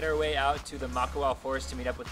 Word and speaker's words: Makawao: So we just finished up here at Makawao State Forest.